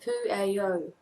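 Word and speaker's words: Pueo: And it is a Hawaiian owl, and it is pronounced Pu'eo.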